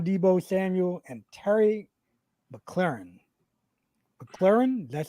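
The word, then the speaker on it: McLaurin: now aj brown debo samuel and terry mclaren mclaren that's how you say it all right yeah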